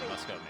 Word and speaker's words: Muscoman: Muscoman, yeah.